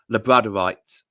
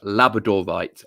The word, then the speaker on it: labradorite: So I pronounce it wrong because I say labradorite instead of labradorite. Labradorite is the way of pronouncing it because it came from Labrador, same as the breed of dog.